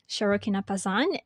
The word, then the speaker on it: Sharokina Pazand: excited because I have I mean we have sharokina pass on am i actually pronouncing your name right you are and you